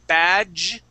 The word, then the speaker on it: badge: a okay very close when we have a d and a g together like that that's going to sound like a j okay so we're going to say badge okay and with the